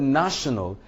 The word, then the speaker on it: national: able to understand that the word national cannot be stressed on the second syllable, neither can it be stressed on the last syllable. So which means we are left with placing the stress on the first syllable.